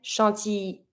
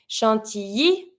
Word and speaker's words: chantilly: Chantilly, because you have the double L, or sometimes people say chantilly, as if there were just one L.